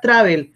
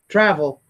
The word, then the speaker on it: travel: every day the verb travel remember is not travel if you say travel you're pronouncing in Spanish we did with this with the Spanish vowels tada well it's an English travel travel so why do you think people need to